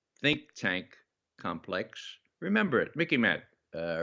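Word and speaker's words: MICIMATT: but you know the mickey matt the military industrial congressional intelligence media academia think tank complex remember it mickey matt uh remember it rhymes with mickey mouse okay this is the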